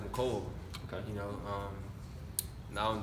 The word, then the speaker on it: Mecole: It's actually pronounced McCole.